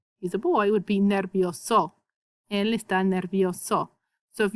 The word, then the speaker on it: nervioso: So if you sound out words, that's cool in Spanish is if you say all your vowels, you're going to pronounce your words correctly. So just remember how to pronounce your vowels. E says e, I says e, and O says o.